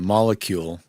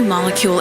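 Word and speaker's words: Molekule: like this but there's a company called the molecule and it's spelled k m-o-l-e-k-u l e um and it's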